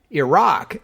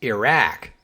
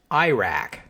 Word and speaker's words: Iraq: get with the program Iraq is the pronunciation closest to the Arabic and it is the preferred English pronunciation so that's the one I will try to stick to using some dictionaries list Iraq as an acceptable alternative